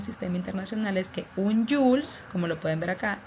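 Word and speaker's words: joule: su sigla es el jules que se escribe julio pero se pronuncia jules y se simboliza o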